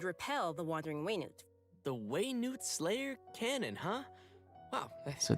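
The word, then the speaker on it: Wenut: Slayer Cannon and repel the wandering waynood the way Newt Slayer Cannon huh wow so that's how you pronounce it way Newt as its name implies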